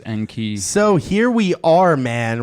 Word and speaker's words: Enki: flame emojis salute Anke I hope you pronounced it as n key but yes that's how I learned to pronounce it through zecharia sitchin and all that I'm sure you know and I'm talking about if not sorry and so it's not as n cob yeah I definitely think